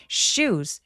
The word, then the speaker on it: shoes: 슈 아니고 하면서 쌍시옷처럼 과장되게 발음해 주세요. 그게 더 정확한 표현입니다. 사실 시옷 발음은 영어에 거의 존재하지 않아요. 그래서 shoes shoes 해 주셔야지 shoes.